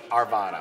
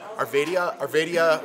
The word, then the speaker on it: Arvada: I always say it wrong, so I'm not I really kept sure. doing the stand up. I'm like, Arvadia, we're in Arvadia, California. And they're like, Colorado. I'm like, Arvada.